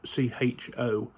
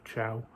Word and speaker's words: Cho: I want to say his name is C-H-O. So Mohamed-Ali Cho, or Chow.